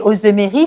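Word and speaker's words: Auzemery: Et Ozemery, ça s'écrit Auzem comme Marie. Ery, Ozemery, donc Ozemery.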